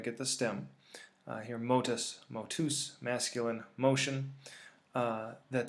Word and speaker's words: motus: the stem, here motus, motus, masculine, motion, that the genitive ends in us. This is actually a long U as opposed to this short U, although most texts you're